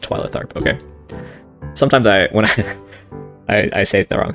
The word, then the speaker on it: Twyla Tharp: remember twyla tharp from now on it is pronounced twilight arp okay sometimes i when i i say the